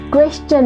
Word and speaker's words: question: So the third change is IELTS में अब first question में, yes it's question, बतख वाला quack quack, it's not question or question.